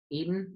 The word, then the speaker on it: Eaton: Hi, I'm joined today on Pitch Love with Eaton. That's how you pronounce it, right? Eaton, just Eaton. like the food.